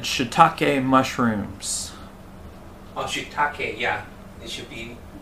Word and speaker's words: shiitake: egg fried rice durio said shitake mushrooms oh shitake yeah it should be pronounced that way so this dish uh uses